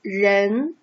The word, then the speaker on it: 人: So it is pronounced as 人.